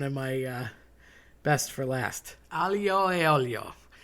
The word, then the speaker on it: aglio e olio: No one says this right. Aglio is garlic, ajo in Spanish. A, as in the letter E, pronounced A, meaning and olio, oil. So garlic and oil. I have grown up hearing aioi.